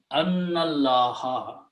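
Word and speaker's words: أنّ الله: And then you read these together, so you do not pronounce this alif in between. So it is Annallaha, indeed, or that it is Allah.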